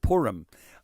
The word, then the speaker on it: Purim: Pronounce that again, because I don't even know how to pronounce it. Purim.